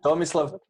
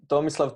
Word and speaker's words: Tomislav: pronouncing your name mm-hmm so what do you think how how it pronounces so it's a slap slap yeah okay so it's Thomas love Thomas love tune pitch but you can call